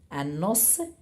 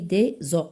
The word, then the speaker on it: os: alors un os mais lorsqu'il y a le plé là on dit des o je prononce pas le s bien et il y a aussi ce qu'on appelle les articulations.